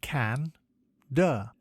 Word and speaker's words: candor: Today's word is candor. It is pronounced can-der and is spelt C-A-N-D-O-R.